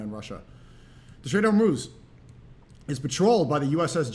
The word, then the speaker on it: Hormuz: How do you pronounce it? I said it wrong? Hormuz.